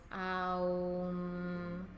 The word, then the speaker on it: Om: One of the very simple chants that you can do is just Om, which is actually 3 syllables. It's A, U, and M. So it's Aum.